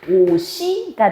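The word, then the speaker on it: 옷이: 자, 모음으로 시작하는 형식 형태소가 올 때, 자, 얘는 발음 어떻게 나? 얘가 뒤로 연음이 돼. 그러면 얘는 발음이 오시가 되는 거야.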